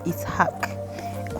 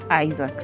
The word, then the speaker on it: Ishaq: I don't know how they pronounce it, but it's if Muslim it's pronounced as Ishaq. For like Christian, it's pronounced as Isaac. So it's Ishaq.